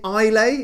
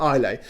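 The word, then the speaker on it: Islay: Isle of I love I want to say I'll a is spelt with an S like like island by presume it's a silent si apology if I'm getting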